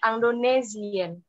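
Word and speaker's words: indonésien: manusiawi Kasih Anggun nih kalau ada huruf s1000rs yang diapit sama2 huruf vokal itu bacanya jadi z jadi indonesien Regita ada yang mau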